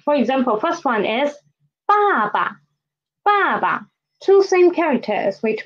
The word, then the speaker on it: 爸爸: For reduplicated syllables, it means there are two same syllables together, especially there are two same characters put together and their sound will be different.